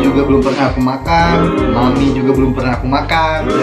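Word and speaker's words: Mamee: Biasanya Mami. Bacanya Mami.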